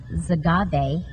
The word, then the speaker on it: Xagave: knows a lot about zagabe and we're going to learn about it this morning did I say that right you did agave with an X is pronounced with a z but we're talking about